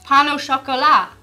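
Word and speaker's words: pain au chocolat: They say it like an Irish person would pano chocolate.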